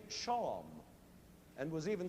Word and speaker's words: shawm: And then finally, in good old British style, it became shawm, and was even spelled that way, S-H-A-W-M.